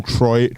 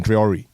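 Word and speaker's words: Traoré: Carlo, be the next Ibrahim Troy. I always say that name wrong. I know you mean Traore.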